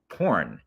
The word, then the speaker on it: P#RN: please please listen to my song porn and it has a funny ring to it doesn't it it's spelled p RN and it came out